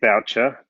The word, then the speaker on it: Boucher: your name right well it's it's said voucher but uh probably pronounced correctly it's probably boucher to be honest back in my history and heritage i i tried to